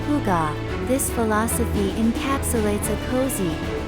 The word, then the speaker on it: hygge: Pronounced hygge, this philosophy encapsulates a cozy, warm state of being.